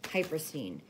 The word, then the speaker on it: hypersthene: stone is called hyperstein and I'm going to spell that for you it's h-y-p-e-r-s-t-e-n-e hyper scene looks a little bit like onyx um but